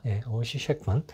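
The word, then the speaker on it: Ossie Schectman: 굉장한 저는 혼란이 있었는데, 그 다큐멘터리를 보면요, 오지 셰크먼이라고 발음을 해줍니다. 오지는 별명이었어요. 오지 셰크먼.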